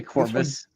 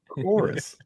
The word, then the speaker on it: Chorus: Did you say Corvus? Yeah. And I love that people pronounce it that way when they read it. And I'm like, play this. You guys are tagging in constantly here. Chorus.